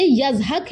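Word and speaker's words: יצחק: کا نام اسحاق رکھا۔ اسحاق اصل تلفظ کے اعتبار سے یزحق ہے، یہ عبرانی لفظ ہے جس کا عربی ترجمہ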